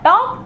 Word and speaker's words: talk: Look at the word टॉक, here I is silent. जब हम कहते हैं टॉक, TALK लिखते हैं, लेकिन L साइलेंट होता है।